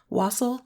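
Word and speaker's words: wassail: Wasle. I heard it's supposed to rhyme with fossil.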